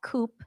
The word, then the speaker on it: coup: coup yeah a CP it's spelled Coupe but it's coup a CP yeah a cpch sure yeah it's a coup but um all the